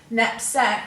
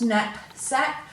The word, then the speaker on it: knapsack: Knapsack, we're going to break that into 2 syllables. Knapsack, you've got the short at sound there, and once again